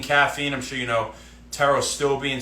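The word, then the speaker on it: pterostilbene: I'm sure you know teros stillbine spelled with a silent P in the beginning.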